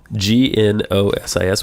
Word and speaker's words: gnosis: I found a cache of programs called nosis g n o s i s which I think means wisdom or something it's pronounced gnosis Ginos okay gsis gnosis I found a cach